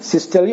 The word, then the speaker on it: systole: एक है सिस्टली और दूसरा है डायस्टली। अब यहाँ पर दो टर्म हैं, सिस्टली और डायस्टली। इसका प्रोनाउंसिएशन बिजार किस्म का है। आमतौर पर इसको सिस्टोल और डायस्टोल बोलते हैं, लेकिन इसका सही प्रोनाउंसिएशन है सिस्टली और डायस्टली।